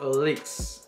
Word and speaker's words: ALYX: 没错，我也这样觉得，就很直觉把那个 Y 当成 E 念，但后来才发现应该念作 Elix。